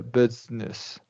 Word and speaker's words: business: you don't you don't you skip the middle eye right correct yeah business yeah dig fist very